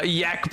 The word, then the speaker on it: Yak: The name is pronounced Yak, by the way. Oh, my mistake. Yak.